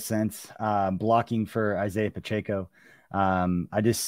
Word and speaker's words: Pacheco: for a year okay I was told that it was pachico and that was wrong and now I'm saying now people tell me it's Isaiah Pacheco so CB Pacheco that's